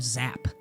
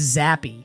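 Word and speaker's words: Zappe: the video was Bailey I kept calling him zap I was getting a night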